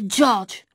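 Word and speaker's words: Đorđe: maîtresse nous a expliqué qu'il s'appelait georges mais que dans sa langue ça se prononcer djordje bon a dit maixent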